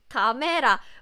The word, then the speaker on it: 카메라: So please remember the Korean k sound is higher pitch. That's why when you pronounce this word, you have to pay attention to the pitch.